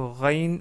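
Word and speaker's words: غ: que vous l'avez deviné, la lettre Rain ressemble, si ce n'est pas exactement la même chose, à la lettre R en français. Et on veut dire par là le R tel qu'il est prononcé à Paris.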